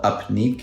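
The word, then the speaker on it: Upneeq: eye drop that they have now is called up nick upn eeq and that's the company that took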